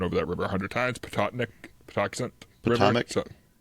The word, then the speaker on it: Patuxent: They come up the I can never pronounce the word, and I've driven over that river 100 times. Patuxent River.